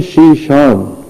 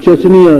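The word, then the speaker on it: Chechnya: اسی طرح ایک ریاست تھی اسلامی شیشان، جسے وہ چچنیاں لکھتے پڑھتے ہیں انگریزی میں. چچنیا اس کا اصل تلفظ نہیں ہے، اصل تلفظ شیشان ہے۔ اسلامی ریاست تھی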